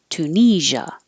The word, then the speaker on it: Tunisia: uh like up retrieve Tunisia and this s i a sounds like a so make sure you have voicing it's like but with sound Tunisia versatile and it is